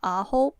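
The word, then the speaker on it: AHOF: And it's spelled A H O F but it's pronounced AOP. Like you pronounce nine in Korean, which actually makes a lot more sense now.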